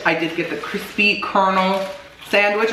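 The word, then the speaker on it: Colonel: did get the crispy kernel sandwich I still don't know why it's pronounced kernel it says : all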